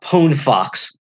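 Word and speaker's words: PwnFox: you had to download it does something a pone Fox this is really cool it's spelled pwn Fox and not only can you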